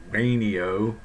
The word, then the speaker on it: Wayneo: neo diet and yes that's the way it's pronounced a neo just briefly since this is the first one